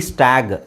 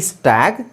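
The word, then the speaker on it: stag: ಉಚ್ಚಾರಣೆ ಏನಾಗುತ್ತೆ ಗೊತ್ತಾ ಎಸ್ಟಿಎಜಿ ಸ್ಟಾಗ್ ಯಾಕ ಹೇಳಿ ಇದಕ್ಕಿಂತ ಮುಂಚೆ ನಾನ ಏನ ಹೇಳಿದೆ ಕೊನೆಯಲ್ಲಿ ಜಿ ಬಂದ್ರೆ ಅದನ್ನ ಗ ಅಂತ ಹೇಳಬೇಕು ಸೋಎಸ್ಟಿಎಜಿ ಸ್ಟ್ಯಾಗ್ ಎಸ್ಟಿಎಜಿಇ ಸ್ಟೇಜ್ ಪಿಎಜಿ ಪ್ಯಾಗ್ ಪಿಎಜಿಇ ಪೇಜ್ ಸೋ ಇದು ಈತರ ಬರೋದಿಲ್ಲ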